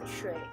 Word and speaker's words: 水: Water is pronounced 水 in Chinese.